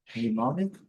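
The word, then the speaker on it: mnemonic: O letra M não é pronunciada. Vamos direto aqui na transcrição fonética. Manic. Manic. E aqui manic em inglês americano. É um pouquinho mais longe. Então, repetindo, nic. Nimonic.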